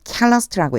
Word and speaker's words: calloused: 요거 발음 조심하세요. calloused라고 읽어요.